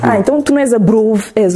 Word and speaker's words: Abrov: Porque já ouvi Abrovi, eu pensei, não, isto é porque as pessoas que falam francês gostam de mudar assim o nome. Não, é mesmo Abrovi.